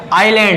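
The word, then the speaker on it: island: बोलोगे ये क्या है आइलैंड है यहां पर जो देखो आई के बाद क्या मिला तुमको एस में लाना तो एस यहां पर क्या हो जाएगा तुम्हारा साइलेंट लेटर हो जाएगा उसके बाद आगे चलते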